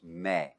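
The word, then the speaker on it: μή: But generally, like here, it says a long E. It's not. It's meh. Meh. And that's the standard way of pronouncing that.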